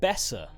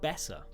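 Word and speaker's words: Boeser: b o e s e r that's that's pronounced Bessa Brock Bessa yeah when the orange bad name used to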